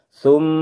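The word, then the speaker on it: ثُمَّ: Saya contohkan. Summa, itu contoh yang pertama, tahan lama.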